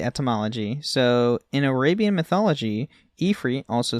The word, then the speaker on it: Ifrit: So I've always called it Ifrit, though, my whole life. It's one of those things where you never hear it pronounced, and then once you do. Mm-hmm. But seeing that the etymology is actually like, it's spelled Ifrit, you're like, okay, well, it's Ifrit then.